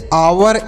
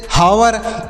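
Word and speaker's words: hour: अगर ओ का प्रयोग हो तो चच का उच्चारण नहीं करते हैं याद रखिएगा इसे ऐसे आप इसे पढ़ेंगे इसे पढ़ेंगे ऑनेस्ट आवर इको ऑनर इसे हने हावर इच हनर ऐसे नहीं पढ़ना इसे आपको जैसे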